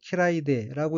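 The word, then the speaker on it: 嫌いで: 둘째 줄 첫 번째 어휘는 한자가 싫어할 혐자이고 일본어로는 키라이데라고 읽으며 키라이데는 싫음, 마음에 들지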